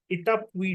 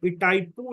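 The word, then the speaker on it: Itaipu: उसका नाम है इटापुई डैम। ओके, इटाइपू डैम या इटापुई डैम। I think इटाइपू इज the correct pronunciation.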